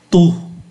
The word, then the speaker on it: tous: Thì chúng ta thấy tu phát âm giống nhau. Tu, T-O-I-T và T-O-I-S, O la même prononciation et se prononce tu.